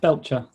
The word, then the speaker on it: Belcher: How is your surname pronounced? That was good. Yes, Belcher.